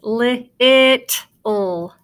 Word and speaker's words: little: When you have 2 consonants together, like the 2 T's together, it just makes one sound.